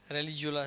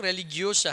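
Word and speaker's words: religiosa: नहीं, रेलिजियोला नहीं, और अच्छे से प्रोनाउंसिएशन सही करना पड़ेगा। बोलो क्या है? हाँ, याद कराया था ना। रेलिज, हाँ, रेलिजियोलिस बोल रहे तुम लोग। रेलिगियोसा है वो, रेलिगियोसा।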